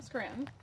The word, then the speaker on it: Scranton: And you know I'm from Scranton because I don't say Scranton with a T. If you're really from Scranton, you don't say the T.